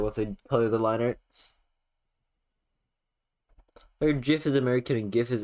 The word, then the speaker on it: GIF: am saying it right I just say GIF because otherwise it sounds like gift same reason I say